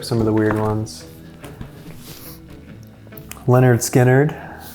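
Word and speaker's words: Lynyrd Skynyrd: Leonard Skinnerd, pronounced Leonard Skinnerd.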